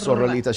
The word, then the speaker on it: Sorrelita: Sorrelita Bass. So you have to roll your R's with Sorrelita.